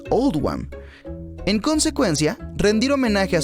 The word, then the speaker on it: Oldham: se hizo para reflejar la pronunciación de oldham en el acento local que es old wam en consecuencia rendir homenaje